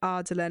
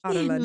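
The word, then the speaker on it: Adarlan: In it Wild, how Americans say Ardalan. How do they say? Ardalan. Ardalan. Like Otterland. Oh, yes. At first, I was like, I don't know what they're saying. Ardalan.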